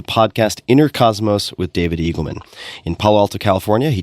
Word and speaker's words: Eagleman: And my guest today is David Eagleman. You can find him on Twitter at David Eagleman, Eagle Man, just as you would think it's spelled.